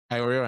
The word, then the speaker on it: Iorio: Iorio, I'm saying it right.